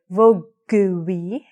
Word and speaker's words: Vogue: So, we don't say, Madonna didn't say Vogue-y, Vogue-y, Vogue-y, Vogue-y, Vogue-y. She said Vogue, like the magazine.